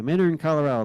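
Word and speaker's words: Minturn: it Miner Miner okay Miner Colorado the t is silent 1954 now we're back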